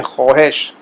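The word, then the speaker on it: خواهش: جو طور پر جو خے کا لفظ ہے وہ خواہش، اس کا ہم جو ادا کرتے ہیں خواہش، تو لکھنے میں تو وہ آئے گا خواہش لگے گا آپ کو، لیکن بولنے میں خواہش، خواہش، خواہر، خویش۔ اب خویش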